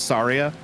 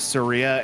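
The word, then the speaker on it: Saria: Also, I'm going to say Serria. The the correct pronunciation is Sara, but when I was a kid playing this game, I read it as Seria, and that's in my head the right way to say it.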